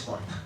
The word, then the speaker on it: corta: en cualquier lugar, Gorta, entonces le pongo la G, pero no es además de que pronuncie mal, me rindo a la pronunciación local y es corta. Aquí es corta con K.